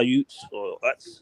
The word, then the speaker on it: Utes: he plays for Utah the Utah Utes that's how you pronounce that damn uh team name but this is my